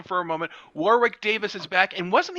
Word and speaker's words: Warwick: for the record although spelled warwick it is pronounced warwick of course because it's british of course it